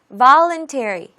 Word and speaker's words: voluntary: voluntary, voluntary, voluntary. 맨 앞음절에 강세가 있습니다.